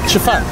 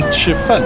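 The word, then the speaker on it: 吃饭: We were learning the word chifan, to eat, and some of us were pronouncing the fun not clearly enough and became chifan, eating excrement.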